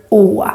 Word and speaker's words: Å: In order to say it right, you kind of need to do this gesture, like you are surprised.